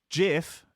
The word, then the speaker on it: GIF: to the example of gif and jiff jiff is in fact the correct pronunciation however if you go